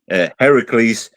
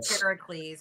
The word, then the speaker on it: Heracles: Can I have or as some people pronounce it Heracles took Cerus out of Hades it is Heracles her was a misrepresentation that kind of stuck.